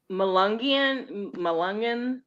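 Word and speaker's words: Melungeon: Malungian.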